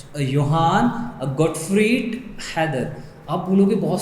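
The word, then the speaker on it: Johann: बच्चे होंगे वो बोलेंगे सर ये तो जोहान है, इसे जे से पढ़ेंगे, आपको तो आ ही नहीं रहा है, ये जे नहीं पढ़ेंगे, इसे योहान पढ़ेंगे, that is the correct pronunciation for that word.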